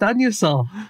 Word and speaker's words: Anusol: I believe it's pronounced Anusol. Yeah, is it? Heck, it's so clearly Anusol. The company says it's pronounced Anusol.